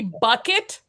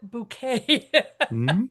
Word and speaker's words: Bucket: It's It's actually bucket, but she refuses to be called bucket, so she pronounces it bouquet.